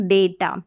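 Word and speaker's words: data: कि ये है स्पेलिंग डेटा। क्या है? डेटा। ए का उच्चारण लॉन्ग ए, लंबा ए का उच्चारण हो रहा है इस ए के लिए।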